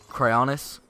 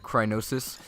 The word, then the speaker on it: Cryonis: So, you can actually use Cryonis. I've noticed I've said it Crynosis. Okay. Bye-bye. Bye-bye. I've noticed I've said it Crynosis like a bunch of times. It's actually Cryonis.